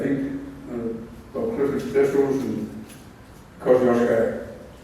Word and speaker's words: Kosciuszko: Bob Clifford's vessels and Kosciuszko, or Kosciuszka. That's the correct way of pronouncing it.